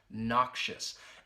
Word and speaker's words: noxious: schwa sound you hear that in the second syllable noxious and what it means is something that is